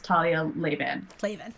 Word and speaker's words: Talia Lavin: She says her name as Talia Lavin.